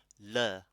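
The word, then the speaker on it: ਲ਼: Le. So when you pronounce nana and rara, it's flicking from the back.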